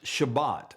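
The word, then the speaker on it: שבת: In Israel, Sabbath is pronounced Shabbat, and on Shabbat, everything comes to a stop.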